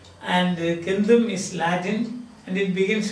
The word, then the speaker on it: Kentum: And western we call Kendum, because the word meaning, that's originally spelled K, now it is Kendum, same, instead of C, K, pronunciation is same, K, so that's we call the Kendum languages.